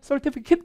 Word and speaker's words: certificate: 그래서 일단 강세부터 볼까요? 이거 어디에 있을까? certificate일까? certificate일까? 보여드릴게요. certificate. 강세 같이 해볼까요? certificate이 아니라 뭐라고요? certificate. 근데 얘는 영국식도 중요해요. 그러니까 알 발음이 받침에 들어가면 알 발음을 안 하거든요. 그러니까 이게 영국식이 되면 certificate이 아니라 certificate 이렇게 될 텐데 사운드로 들려드릴게요.